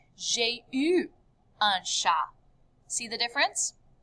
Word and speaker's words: eu: The past tense of avoir is a teeny tiny little word, and it's pronounced like this, eu.